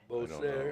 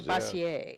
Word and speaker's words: Bossier: B-O-S-S-I-E-R, Beaucaire? It was, considering it's French in Louisiana, I would say Bassier. Bassier.